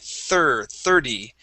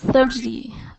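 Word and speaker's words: thirty: end of the word is going to be pronounced like a D. 30. 37. Try that. 30.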